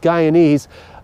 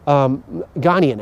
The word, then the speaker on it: Ghanaian: He's Guyanese, Ghanaian, actually, I think is how that's done, is pronounced.